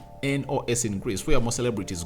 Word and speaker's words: Mykonos: What's the pronunciation of that place? It's Mykonos in Greece, where most celebrities go during the summer to really spend their cash.